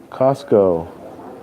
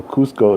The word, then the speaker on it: Cusco: Costco is the city closest. Costco is the city closest to Machu Picchu. Oh, Cusco is okay.